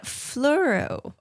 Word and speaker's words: Fleurieu: It's a Fleurieu. I want to say it in a French accent, but it's not.